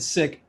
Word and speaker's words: SIC: So last year I founded the SICK Film School, and SICK is spelled SIC, which stands for Social Impact Content.